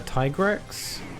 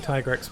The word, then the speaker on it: Tigrex: It could either be Tigrex or Tigrex, but I think Tigrex makes more sense because it's tiger. Tiger T-Rex.